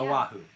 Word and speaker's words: Oahu: I guess you say it Oahu. Is that how you say it? Oahu? Yeah. Oahu. Yes, the I island. couldn't figure out what your question was. I was like, yeah, you're saying that right.